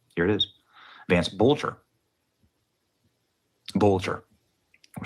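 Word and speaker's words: Vance Boelter: Vance Boatler. In case you're wondering if that's forged or fraudulent, here's the official documents of the Secretary of State of Minnesota. Here it is. Vance Bolcher. Bolcher.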